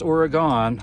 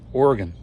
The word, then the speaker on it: Oregon: Not pronounced Oregon. I was corrected on that. Oregon.